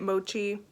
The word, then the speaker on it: mochi: supposed to be a mochi i think that's how you say it mochi like those little dessert things mochi glow but literally